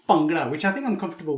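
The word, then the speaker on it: Bhangra: They sometimes say "pungra" and it's wrong. Or even worse, they look at it how it's written and say "bangra", which is a big mistake. So, it's pronounced "bangra", which I think I'm comfortable with saying.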